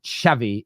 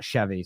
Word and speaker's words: Xavi: someone here just says it's pronounced chavy not chvy so chavy keep your